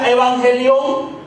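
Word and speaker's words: εὐαγγέλιον: palabra evangelio viene de una palabra griega que se pronuncia evangelión, y literalmente quiere decir buen mensaje o buenas nuevas. Y sabemos por la Escritura que Pablo utilizó este término evangelión para referirse al Evangelio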